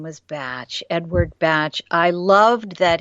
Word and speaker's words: Bach: fun part is that the English pronounce it batch so we call it Bach they call it batch he he was a